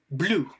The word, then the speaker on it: blue: Donc blue. Donc là c'est le OU en fait. Le U c'est un OU. Donc blue.